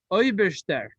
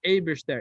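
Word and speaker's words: Eibershter: Hebrew and in English, Oiberster, it's spelled Eberster, A-I, Eberster. So I just say Oiberster because I have a little bit of a Russian lilt to it. But it's Eberster with an A-I.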